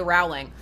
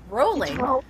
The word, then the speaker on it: Rowling: midst of it, Rowling, whose name I finally learned how to pronounce the proper way, even though every instinct in my heart wants to say Rowling. But, Rowling. It is. I knew it was Rowling.